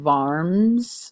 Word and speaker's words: Worms: There is eventually a compromise, the Concordat of Worms. I know it looks like worms, but Worms is how it's said.